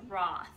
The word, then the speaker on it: Roth: said it wrong earlier it's Peter Thomas Roth not Ross I show you what